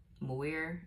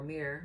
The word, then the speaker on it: Muir: Muir, M-U-I-R, or Mir. Maybe the U is silent. I don't know.